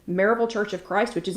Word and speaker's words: Maryville: pm with christy g marvel church of christ which is in you guessed it maryville and that for ladies who don't live here it is spelled maryville but it is pronounced marvel so if you go